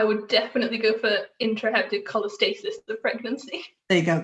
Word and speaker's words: cholestasis: say how you think it's said so intraheptic cholesthesis of pregnancy i would definitely go for intraheptic cholestasis the pregnancy there you get that that's exactly